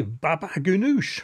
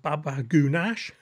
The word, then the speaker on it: baba ganoush: we go with a baba ganoush or as I often mispronounce it Baba goonash all of these dishes